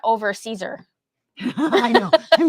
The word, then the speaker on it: Siser: sizer or something, because it starts with an SISER. And we're both like, oh. So that's how you say that? We still kept thinking that like they were mispronouncing it until the gal from Caesar came on and said, "We're so excited to have you."